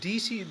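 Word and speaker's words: Deci: your cooperation with the Edward DC do I pronounce correctly I yeah it's DC it's a check that's it yeah after all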